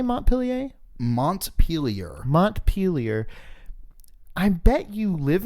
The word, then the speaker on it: Montpelier: Parentheses, Johnny, the capital of Vermont is pronounced Montpelier. How did I say it? I'm sure we've both have been saying Montpellier. Montpellier? But I don't know if Montpelier. That's how they want us to say it.